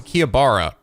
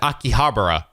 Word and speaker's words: Akihabara: always thought it was kia bara she said akihabara she pronounced the h oh my god look